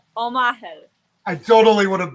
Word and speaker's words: Omachel: so much for inviting so ready and it's omaha omaha i totally would have butchered your name but so many people changed